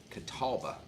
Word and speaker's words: Catawba: it's so hot out here how do you pronounce that okay Catawba Catawba Brewing Company Catawba Brewing Company White Zombie